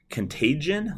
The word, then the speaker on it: contagion: corrected me last semester he said it's contagion like contagious but contagion um I always pronounce